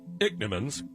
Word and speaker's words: Ichneumons: Ichneumons, pronounced Ichneumons.